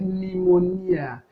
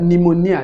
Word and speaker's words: pneumonia: are other words like pneumonia so in this word pneumonia dp is not articulated because it's not held even though it's clustering of consonant but the p is silent so the articulated consonant